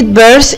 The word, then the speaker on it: birth: برضو كلمة birth ال T وال H هنطقها س، زي ايه يا حبايبي؟ برافو، زي ال T وال H اللي موجودين في كلمة 3 اللي هو رقم 3.